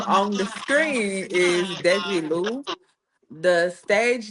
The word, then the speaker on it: Desi Lu: Okay, so the name on the screen is Desi Lu.